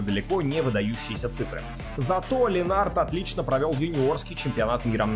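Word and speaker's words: Leonard: Компанию Александру Овечкину составит Райан Ленард. И нет, он не Леонард, хотя его фамилия пишется именно так.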